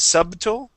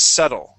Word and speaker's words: subtle: okay so uh subtle the B is silent instead of subtle it is subtle try that subtle good